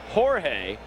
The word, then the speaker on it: Jorge: wanted to be called Jorge as it's pronounced in Spanish not too long ago